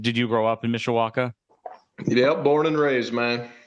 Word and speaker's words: Mishawaka: you're in Mishawaka is that the right Town Mishawaka yep okay and did you grow up in Mishawaka yeah born and raised man okay and that